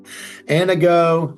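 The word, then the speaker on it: Anago: And he's from Anna Go cleaning services. He made a joke. He goes, "Think about your girlfriend named Anna and you want her to go."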